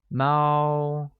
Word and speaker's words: 猫: Cat literally translates as 猫, which is pronounced with a high-level tone, like Mao.